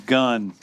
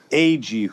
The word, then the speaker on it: Agee: official podcast with James Gun. And I'm James Gun, and I'm joined every episode by my co-host, Jennifer Holland and Steve Ag, who some people say Steve G. Wrong pronunciation.